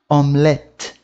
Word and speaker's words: omelette: O E no final da palavra, ele não tem um som puxado, né? Como, por exemplo, aqui, ó. Omelette, madame, mousse. Percebe que a minha pronúncia parou na letra anterior ao E, né? Omelette, parou no T.